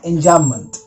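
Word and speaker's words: enjambment: Alright, सो यहां पे जो बी लेटर होता है वो साइलेंट रहता है, उसको प्रोनाउंस मत कीजिएगा, एंजाममेंट। तो ये क्या होता है?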